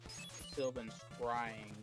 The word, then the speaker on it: Sylvan Scrying: says it's supposed to be pronounced Sylvan Scrying. Yeah. I've been saying scream.